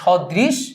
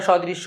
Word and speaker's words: সদৃশ: জ ফালা না যেটা সদৃশ এবং হচ্ছে বিসদৃশ আমি হচ্ছে উচ্চারণের সময় আমরা সদৃশ্য বিসদৃশ্য টানে চলে আসে কিন্তু এটা কিন্তু আসলে সদৃশ্য এবং বিসদৃশ এভাবে উচ্চারণ করবা এবং লেখার সময় সেভাবে লিখবা ওকে তাহলে এরপরে সাত নাম্বার